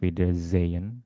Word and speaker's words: Wiedersehen: Jadi, huruf S biasanya dibaca sebagai Z jika berdiri sendiri. Misalnya, "auf Wiedersehen" tadi. Jika setelahnya tidak ada konsonan lain, maka dibaca sebagai Z. Seperti itu.